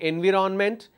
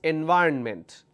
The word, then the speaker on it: environment: rhythm computer geography environment please don't say environment it's environment government plurality determination derivatives